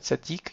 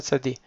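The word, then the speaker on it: צדי: Beaucoup le prononcent comme TS, d'accord? Donc le mieux, ça serait de dire TS, comme si c'était ts.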